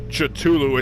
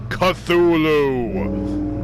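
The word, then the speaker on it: Cthulhu: uh yeah uh Jack it's not chulu it's pronounced cthulu cthulu I'm not even a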